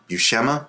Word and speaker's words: Buscema: So this is a VHS co-hosted by Stan Lee and John Buscema, I believe is how you say his name.